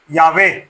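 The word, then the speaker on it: Yahweh: वो मैं कौन है वो है यहोवा यावे सॉरी यावे राइट प्रोनाउंस िएशन क्या होती है? यावे तो कहता है वो किसके आगे?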